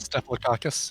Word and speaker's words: Staphylococcus: Staphylococcus, yep. Oh, man, remember he lost to George Bush Sr.? That was such a disappointment to see Staphylococcus.